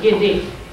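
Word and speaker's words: Guede: How many of you have already heard this word, Gede? G-U-E-D-E. Also, you do not find Gede in Africa. That is something that is local. And to me, Gede is, again, a legba reduced to a specific situation.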